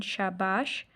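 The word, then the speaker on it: شاباش: आगे है बच्चों शाबाश बेटे और खुशहत बनो, शीन अलिफ शाह बे अलिफ बा शीन शाबाश, बे ये टे बड़ी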